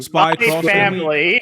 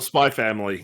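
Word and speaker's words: Spy × Family: Spy cross family. You just call it Spy Family.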